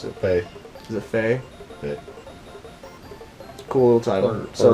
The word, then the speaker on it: Fe: independent titles, and they showed a game called Fee or Faye. It's just F-E. Can't remember how they Faye. pronounce it. Hey. Is it Faye?